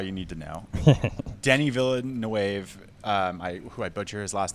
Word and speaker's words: Villeneuve: Yeah, Denis Villeneuve, I think is how I you believe actually it is pronounce Villeneuve. it. But it is Villeneuve.